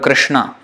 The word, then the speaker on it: Krishna: you read the word Krishna. That S with the dot below is pronounced sh, like Velar. Ka. In that position of ka, but sh. So the air is forced through that sh.